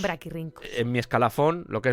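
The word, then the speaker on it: brachyrhynchos: Sí, pero en en latín cuando tienes una C y una H se pronuncia una K. Braquirincos. Braquirincos.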